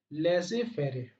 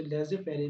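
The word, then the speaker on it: laissez-faire: Similarly दोस्तों fourth point क्या हो सकता है कि फ्री trade policy is also known as लेजे फेरे, इट is also known as लेजे फेरे। इसका स्पेलिंग यहाँ पे लिखा हुआ बोल्ड किया हुआ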